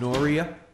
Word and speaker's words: Noria: 2501 under the application of Noria, is that how you say it? Correct.